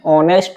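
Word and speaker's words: honest: एन ही इज एन ऑनेस्ट man correct answer है यहां पर एच है ना व साइलेंट रहता है नेक्स्ट है सेंटेंस इट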